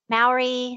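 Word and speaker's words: Māori: Maori.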